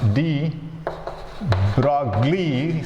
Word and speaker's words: de Broglie: And de Broglie, and it can be pronounced de Broglie. Some people announce it as de Broglie, but it is actually de Broglie, right? De Broglie wavelength. GLI is the silent, right?